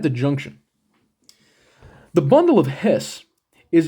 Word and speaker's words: His: the way here is called the bundle of His okay it's pronounced his sometimes you might be uh you